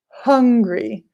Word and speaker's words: hungry: Many people confuse angry and hungry. The H is very important when you want food. I'm hungry.